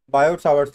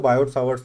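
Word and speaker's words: Biot–Savart: बायोट सावर्ट्स लॉ। जहां तक मुझे मालूम है ये वाला टी और ये वाला आर साइलेंट है, जहां तक मुझे पता है।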